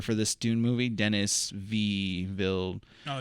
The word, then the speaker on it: Villeneuve: The director for this Dune movie, Denis Villeneuve. Oh, it's like I got you. Denis Villeneuve. That. Yeah. I'll just call him Dennis. Dennis V. Villeneuve.